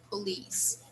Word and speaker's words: police: the police all right the stress is on the second syllable police okay okay good so